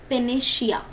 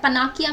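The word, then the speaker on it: panacea: उसको बोलते हैं पेनेशिया क्या प्रोनाउंस कैसे करते हैं उसको पेनेशिया शिया करके प्रोनाउंस होता है ठीक है पनाकिया मत बोल देना इसको इट्स पेनेशिया जैसे अगर आपको इस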